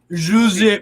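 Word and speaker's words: José: So it's Jose, not Jose. It's Jose. Actually, what is it? What is it? Jose Mourinho. That's how you say it in Portuguese.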